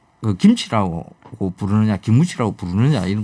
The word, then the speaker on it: 김치: 그런 사람들 붙잡고 그 김치 가르치느라고 김하면 김, 치 하면 치, 김치, 그거 안타깝네요. 김무치 그게 안 돼.